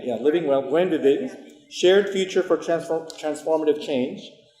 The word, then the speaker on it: Buen Vivir: Yeah, is it Buen Vivir? Yeah, Buen Vivir. Vivir. Yeah. Buen Vivir. Is it living well? Yeah. It's living well, right? Yeah, living well. Buen Vivir.